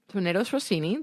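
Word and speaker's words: tournedos Rossini: Tornado Rossini.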